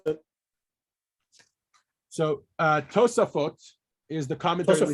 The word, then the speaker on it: Tosafot: In my opinion, the reason, how do you pronounce it? So Tosafot is the commentary that we Tosafot.